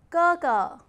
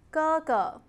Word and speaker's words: 哥哥: I, me, myself in Mandarin, 我, 我, and elder brother, 哥哥, 哥哥, elder sister, 姐姐, 姐姐. When two syllables are of the same composition, the second syllable will be pronounced as natural tone.